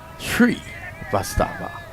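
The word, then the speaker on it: Srivastava: by manges by that you split the name in two and you pronounce this tree vastava He's a top young player.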